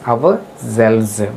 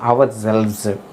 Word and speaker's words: ourselves: Okay, here we have to pronounce this as ourselves. Buzzing sound of bees. Za sound we have to use here, not a sa sound. Here we have to use ja sound, ourselves. Okay, next let us see its Telugu meaning.